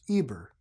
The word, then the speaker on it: Eber: word ever the word hover in English is pronounced Eber Hebrew means from Eber Abraham was the sixth